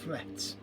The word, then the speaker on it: flet: Heall, and flet.